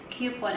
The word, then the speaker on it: coupon: Coupon. Coupon. Coupon. Coupon. Coupon. Coupon. But other people say it coupon.